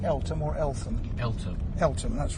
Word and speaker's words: Eltham: Is it pronounced Eltham or Eltham? Eltham. Eltham, that's right.